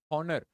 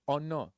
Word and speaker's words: honor: it is PR pronouncing we are not going to tell it as honor you're not going to say it as H honor you're going to say it as honor all right honor so a is the